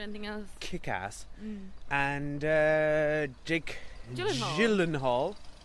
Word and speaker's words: Gyllenhaal: And Jake Gyllenhaal. I think it's a soft G, not a hard G.